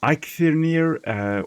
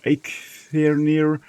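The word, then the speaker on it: Eikthyrdeer: And, well, I have always been pronouncing it Eekthurdeer. Like, Eek is Afrikaans, and I think it's Dutch as well for an oak.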